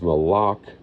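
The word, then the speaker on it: מלך: It's actually not a Chet, sorry, it's a Kuf. It's Malak. That's the confusion of how it's transliterated. They transliterate it with a CH, which would be a Chet or a Heath.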